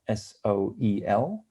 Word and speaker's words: Soel: It's solar and it's electric. That's why it's spelled SOEL. And there's also wordplay in it, because in the naval jargon, a boat has to have a soul. I pronounce it Soel Yachts because, that's what we think makes the most sense.